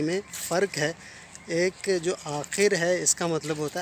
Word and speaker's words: آخر: میں حاضر ہوا ہوں۔ یہ الفاظ لکھنے میں ایک جیسے ہیں، اور بولنے میں اور تلفظ کے اعتبار سے ان کا میننگز جو ہے نا وہ بدل جاتا ہے۔ ٹھیک ہے، وہ لفظ ہے، ایک ہے آخر اور ایک ہے آخر۔